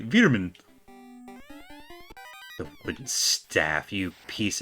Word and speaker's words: Wereman: It's pronounced like Veer, so... So Wereman is actually Veerman.